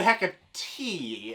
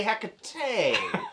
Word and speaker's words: Hecate: I said you said heck of tea and I think I want to say Hecate like Tecate the beer I think it's open